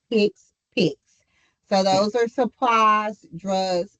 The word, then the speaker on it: HCPCS: Some people see that word and it's like HCPCS it is pronounced "hicks-picks".